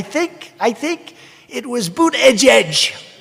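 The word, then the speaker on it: Buttigieg: i think it was boot edge edge boot edge edge they said think of it as boot and then edge edge because nobody can pronounce this guy's name nobody boot edge edge they say buddha edge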